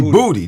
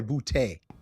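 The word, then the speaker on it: Boutte: I I think Booty say booty. They call him Booty. They the announcers pronounce his last name Booty. No, that's that's got a little New Orleans twang on it. It's probably bouty.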